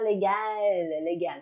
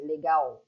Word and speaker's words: legal: Tu fais bien attention à la prononciation de ces L, ça ne monte pas, hein, ce n'est pas légal, c'est legal. Ça fait pour vous le son de legal.